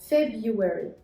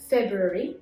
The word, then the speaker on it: February: R here is silent. February. By the way, هناك طريقة ثانية لنطق هذا الشهر فنقول February ننطق فيه حرف ال R.